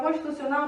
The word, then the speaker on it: constitucional: Qual é a sílaba forte de constitucional? É o nau, exatamente, né?